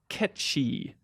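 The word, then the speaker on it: Cait Sith: the name Kate Sith is taken from traditional Celtic folklore and is traditionally pronounced Ki she that's how he typed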